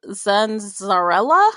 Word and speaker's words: Zanzarella: Okay, so the narrator was Nicole Zanzarella, I believe. That's how it's pronounced.